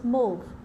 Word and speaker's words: mauve: Look at the pronunciation. The name of the color is mauve.